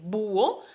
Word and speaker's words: búho: no sea voz porque no es búho es búho si hay que entonces acentuar la 'u' para que podamos pronunciar